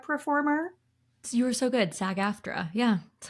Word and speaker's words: SAG-AFTRA: And honestly, Maddie, I don't know if I'm supposed to say these letters or spell it out, a SAG-AFTRA performer. You were so good. SAG-AFTRA.